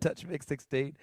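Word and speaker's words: TouchMix-16: Touch Mix 16. You got it. Touch Mix 16.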